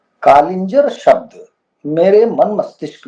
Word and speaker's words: कालिंजर: ऐसा नहीं लगता था कि हमारा ही शब्द है यह कालिंजर, और इसके उच्चारण में भी दोष है। सही शब्द कालिंजर है, लेकिन बहुत लोग इसको कलिंजर बोलते हैं।